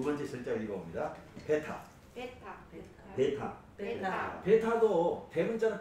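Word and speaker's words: βῆτα: 알파, 베타고요. 베타도 이름이 베타야. 베타야. 어디에 있든지 이거는 우리로 말하면 비읍. 응? 영어의 비 어디에 있든지 비 비읍 발음이 납니다.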